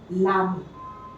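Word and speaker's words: l'ami: For example, le, ami becomes lami. The E we have to replace with an apostrophe. So this becomes lami.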